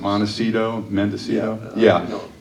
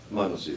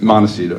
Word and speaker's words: Montecito: Well, now, you still live up in, am I going to mispronounce it, Mendocino? Montecito. Montecito, yeah.